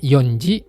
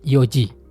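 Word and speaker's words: 四時: Begitu juga dengan jam .00 Bukan Yonji, tapi Yoji itu harus teman-teman perhatikan.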